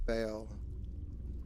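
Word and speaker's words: Baal: uh I think most people pronounce it Bale like b a l e but it's spelled b a a l these May draw Bale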